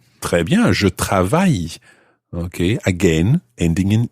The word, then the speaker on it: travaille: Très bien, je travaille. Okay, again, ending in E. Okay, it's quite difficult sometimes to guess exactly how French words are spelled because obviously so many of the letters are silent.